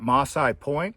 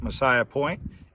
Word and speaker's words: Massai Point: here we are at maasai point some pronounce it messiah point in the chiricahua's wilderness